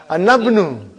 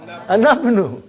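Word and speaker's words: أنا ابن: But how will I pronounce? Anabnu. How will you say? Anabnu. Anabnu I'll pronounce.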